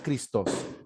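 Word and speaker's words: Χριστός: dos que aparece aquí christos se puede pronunciar cristos los cristianos usaron siempre la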